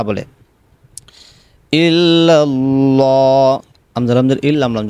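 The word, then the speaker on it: إلا الله: ইল্লাল্লাহ, আমজার আমজার ইল, লাম লাম জবর লাল, ইল্লাল্লাহ। অনেকে এখানে কিন্তু গুণনা করে এইভাবে বলে ইল্লাল্লাহ, এই যে গুণনাটা করলেন সম্পূর্ণ ভুল, এখানে গুণনা করা যাবে না, এভাবে বলতে হবে।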